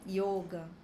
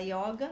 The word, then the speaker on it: yoga: No alfabeto sânscrito, a gente não tem a letra O aberta, a gente tem a letra O. O o deles é só fechado. Então, quando a gente vai pronunciar yoga, no sânscrito, a gente fala yoga. Por isso que a gente fala yoga, não é? Porque às vezes vão ver que tem gente que fala yoga e tem gente que fala yoga.